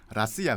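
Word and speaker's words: Россия: 예 그 러시아 사람의 그 가장 정확한 발음은 라시아 든요 라시아 라시아 하고 그니까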